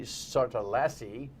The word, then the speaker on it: Sartalassi: Betsy Sartalassi, like rhymes with Lassie, sounds like the dog.